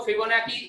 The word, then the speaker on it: Fibonacci: लेकिन इसको पढ़ने के वक्त हम लोग इस तरह से पढ़ते हैं, NACHI. पढ़ने के वक्त हम लोग इसको फिबोनाची इस तरह से पढ़ते हैं, बट it's spellings are FIBONACCI.